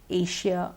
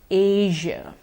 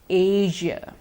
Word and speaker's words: Asia: because we've been using the share so far Asia Malaysia Indonesia but the correct pronunciation is actually with the usual sound Malaysia Indonesia Asia once more Malaysia Indonesia Asia you may have heard the advertisement Malaysia truly